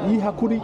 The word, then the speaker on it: Yi Hakuri: Oui, c'est la prononciation, c'est bizarre un peu. C'est dur. Ahon Kuri. Je connais, désolé, c'est Yihakuri.